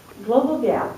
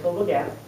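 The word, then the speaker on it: GLOBALG.A.P.: Global GAP, which is how you say it, Global GAP, started about 20 years ago when a group of school children died from a food poisoning outbreak.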